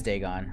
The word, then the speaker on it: Dagon: the fish god oh i am saying it right it is dagon okay i thought i was